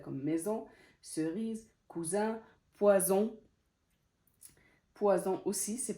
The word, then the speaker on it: maison: elle se prononce z comme maison, cerise, cousin, poison aussi c'est pareil, c'est entre deux voyelles donc elle se prononce z, elle se prononce pas s.